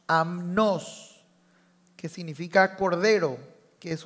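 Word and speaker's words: ἀμνός: está el cordero aquí una palabra griega que se pronuncia como amnos amnos que significa Cordero que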